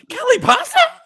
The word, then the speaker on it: Kelly Passa: Kelly paa Kelly paa Kelly Passa that exclamation mark question mark will be in the pronunciation but exclamation point first and then question mark so you lead with the exclamation point Kelly Pasa Kelly Pasa so you sound excited first and then confused yep anyway yes um